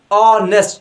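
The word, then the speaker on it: honest: तो अगर हम जरा गौर करें, यू आर ऑनेस्ट person, ऑनेस्ट यहाँ पर एच जो है ना साइलेंट है, तो ये जो ऑनेस्ट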